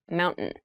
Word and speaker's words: mountain: speech it sounds like Mountain the t- sound is reduced the little town was